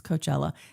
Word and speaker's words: Coachella: Okay, I think it was Coachella. That's how you say it.